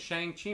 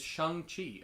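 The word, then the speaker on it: Shang-Chi: that's an interesting thing did not know that it was shang i've been pronouncing it shang chi my whole life that is incorrect it is shang chi according to um uh simulu the star of the movie and uh to all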